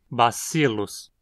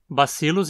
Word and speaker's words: Bacillus: Aqui a penúltima sílaba é sil, termina em consoante e, portanto, é onde o acento precisa cair. Bacillus. Bacillus em latim significa bastãozinho, um diminutivo de báculos, bastão.